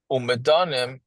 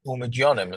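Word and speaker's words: ומדינים: Umedanim, how do you pronounce that? Umedyonim, sorry.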